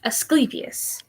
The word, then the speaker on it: Asclepius: Asclepius.